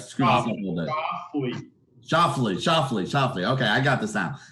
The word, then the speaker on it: Schauffele: Schauffele.